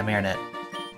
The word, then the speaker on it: Marinette: Yeah, Marinette. Okay, so I wanna make sure I spell it right.